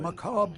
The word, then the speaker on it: macabre: implements to prepare their dead for burial what macabre mysteries would these tools reveal but speak he pronounced the word macabre correctly some people say